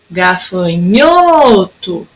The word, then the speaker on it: gafanhoto: Gafanhoto. Durou mais o gafanhoto. Então, eu vou pintar aqui, ó, a sílaba nho.